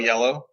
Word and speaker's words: IELLO: from Yellow. ILO. It's IELLO. It's French. It's yellow.